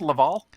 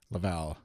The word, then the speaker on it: Laval: early in the Montreal Laval, is it pronounced Laval? Laval is how English Canadians pronounce it, but okay, Laval.